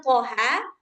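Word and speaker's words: طه: Jadi cara bacanya itu ikut huruf ejaan daripada huruf tersebut. Nah, jadi ini thaha karena enggak ada alif ee apa namanya? Baris telentang di atasnya.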